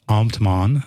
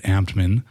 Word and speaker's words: Ambt: but I pronounce it Amman and uh the workaround I do when people ask me to pronounce it is I say I'm an amped man like an excited guy or uh Batman without